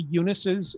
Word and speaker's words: Younis: you can see it now if you run into Eunices in the United States. They all spell it a different way. My grandfather chose to spell it Younis, so it sounded like Eunice.